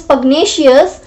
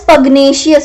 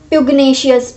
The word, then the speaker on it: pugnacious: okay, not pugnacious or pugnacious. We pronounce it as pugnacious. Pug and बाकी जो है word that is same, that is nacious. So pug is separate and nacious is separate.